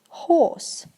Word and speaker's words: horse: okay next up is horse horse many people say horse horse is also fine I think but British people would like try to make the all really sound like ah not are okay so you should